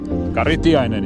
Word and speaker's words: Kari Tiainen: And I'm not sure I pronounce it correctly. Karitianen? Karitiainen, yes.